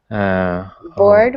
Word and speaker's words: bored: Bored, we say one syllable, although it looks like two, we say bored.